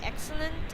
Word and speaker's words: excellent: But if X is after X is consonants like C or any other consonants like excellent, okay? The pronunciation for that is X Ex- sound. Yeah. excellent. Excellent. Ek. That's Ex- the K sound.